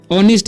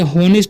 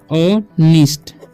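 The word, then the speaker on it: honest: इज एन ऑनिस्ट, इसे हॉनिस्ट नहीं पढ़ते हैं, ठीक है, इसे पढ़ते हैं हम ऑनिस्ट, ठीक है। इसे पढ़ेंगे बॉय, ठीक है, बॉय, यानी कि यहाँ पर H साइलेंट है, ठीक है।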